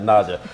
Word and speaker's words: Naja: The Naja.